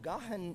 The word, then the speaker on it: Gahan: I was saying it gone yesterday because if it was a single syllable, that's the way it would be said. But if the accent is after the H, it's Gahan. And I think that might be the way to do it, Gahan.